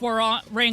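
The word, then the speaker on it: Hwoarang: I'm sorry it's all warang all of them my rival that was very close though round and I have to learn how to fight against War rang eventually that's how they pronounce it I know the least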